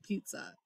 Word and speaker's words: pizza: It doesn't play fair. I would expect them to put a P, E, and then maybe a T and an S.